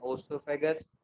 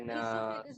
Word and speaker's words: esophagus: हम सबसे माउथ, पहले mouth, then ओसोफेगस, then ईसोफेगस बोलते हैं, स्टमक। ओसोफेगस नहीं बोलते। अच्छा, ईसोफेगस। Yes, O is silent. Esophagus.